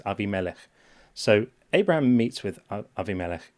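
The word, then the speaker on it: Abimelech: some people pronounce this AMC, but that's not not correct. It's it's a Hebrew word. It's Aviamelik.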